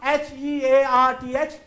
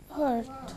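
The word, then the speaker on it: hearth: What is the pronunciation of H-E-A-R-T-H? Hurt. H-E-A-R-T-H? Hurt. No, it is heart. It is? Heart. It is never a hurt.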